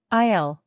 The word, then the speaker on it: aisle: Isle. By the way, the s is silent.